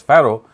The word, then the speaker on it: Fir'aun: So the actual word Fir'aun, which is pronounced as Pharaoh in the English language, it actually means the children of the sun god.